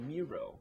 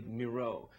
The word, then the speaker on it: Miro: There's a lot of Miro, but it's really Miro.